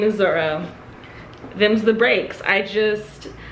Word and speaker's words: Zoro: zolo and i just i don't think i've ever heard any pronunciation even in the english translation of the anime of his name as zolo it's zoro why because zoro exists in